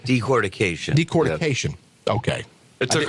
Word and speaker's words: decortication: I was shocked at the fact that you're able to take even the dust that results from the decorticization. Am I saying it right? Decortication.